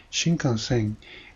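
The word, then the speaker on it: 新幹線: But if you go to the dictionary, you can see it is pronounced shinkansen and refers to the Japanese bullet train.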